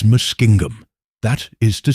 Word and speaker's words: Muskingum: The proper pronunciation in Indian is Muskingum.